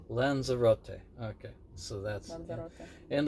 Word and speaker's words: Lanzarote: Lanzarote. Lanzarote.